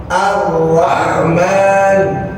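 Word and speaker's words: الرحمن: Tapi jangan banyak-banyak getarnya. R dikit aja. R ro ro. Sekali lagi. Ro ro ro ro ri ri ru ru. Bar bar. Arrahman. Arrahman. Boleh lihat saya. Arrahman. Arrahman. Saya enggak ke depannya. Ar enggak begitu. Apalagi baca ra dengan memonyukkan. Bukan robil ro arro arro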